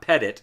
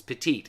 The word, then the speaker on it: petite: grand juries and petite it's not ptit it's petite as in small you know like a woman is petite go into the petite section it's petite say it correctly folks petite small it's it's 12 grand